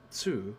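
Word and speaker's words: つ: the second exception is tsu which adds a s sound and is pronounced with the less emphasis on the t they slide that happened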